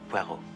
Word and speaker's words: Poirot: I've got a parrot with Mr. Poirot. No. Poirot. It is pronounced Poirot.